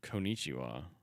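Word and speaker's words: こんにちは: Also, by the way, number 3 says Konnichiwa, written in the characters of the moon runes. Which is always funny because the last one is actually ha, like it's konnichiwa, but it's pronounced wa.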